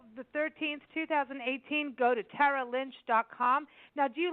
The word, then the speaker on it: Tara: from New York and my name is actually pronounced Tara but nobody can say Tara unless they're from New York I usually get Tara like tear a piece of paper and a half and